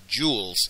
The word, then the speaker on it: joule: unit called a capital letter J and we pronounce it joules and it's the last name of a famous